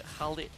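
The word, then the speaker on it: Khaleed: they have the khid the khid yes that's how you pronounce it okay be more sensitive husky I'm sorry does DJ Khaled doesn't pronounce himself as DJ khid DJ okay I can't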